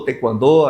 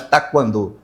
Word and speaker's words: taekwondo: Tequando. As pessoas meio raramente fala tequandô. É mais taquando, né? Mas a pronúncia certa mesmo é te quando tá?